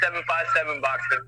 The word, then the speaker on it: 757 Boxing: Yeah, it's actually pronounced 757 boxing.